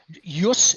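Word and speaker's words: ius: go back to the original Latin Yus Urus which the word justice comes from mhm right just J Us in classical Latin it's spelled I us us means right yeah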